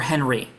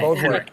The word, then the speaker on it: Henryk: And is it Henryk or Henry? Henryk or Henry. Okay, Henryk. I didn't pronounce the K enough, but yes.